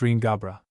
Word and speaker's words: Riangabra: FN number 34 pronounced Ring Gabra.